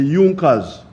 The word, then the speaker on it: Junkers: it are the big farmers known as the yunkas it's written in junkers but it's pronounced as junkers in the german kingdom of